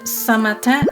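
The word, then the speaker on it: Saint-Martin: let's get this right it's pronounced sint martin on the dutch side and samatan on the french side we spent two weeks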